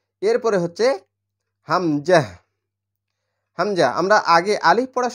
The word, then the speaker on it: হামজা: same একই রকম কিন্তু হামজার উচ্চারণ হয় গলার শুরু থেকে মানে এই হা যেখান